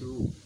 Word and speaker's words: rho: correlation coefficient use rule we call this rule it looks like p it's spelt rho okay now let's see